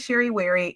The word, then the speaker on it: Sherry Wherry: So, first, my name is Sheri Wary. Yes, it rhymes.